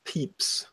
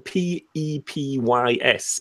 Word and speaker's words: Pepys: The name is written P-E-P-Y-S, but I think it's pronounced Pepys.